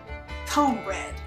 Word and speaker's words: cornbread: to tell you that in the south cornbread is pronounced cone bread from now until the